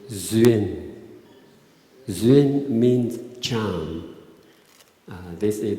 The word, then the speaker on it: duyên: The word duyên, but we pronounce duyên.